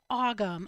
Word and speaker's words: Ogham: Janet's Ogham. I'll spell it for you.